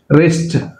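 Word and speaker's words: wrist: రిస్ట్, W silent, రిస్ట్.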